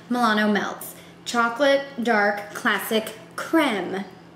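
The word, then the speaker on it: crème: melts chocolate dark classic creme there is a fancy little symbol over that first e in cream so I'm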